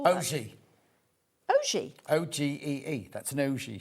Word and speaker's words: ogee: O-G-E-E. Ogee. But you say it like ogee. Like, that's how I say it. Okay. Yeah. Okay. It's spelled O-G-E-E. So it's like, oh, gee. Oh, gee.